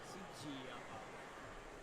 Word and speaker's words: Sigia: Qua, Sigia. Con la C? No, non la G, però la I, l'accento sulla I.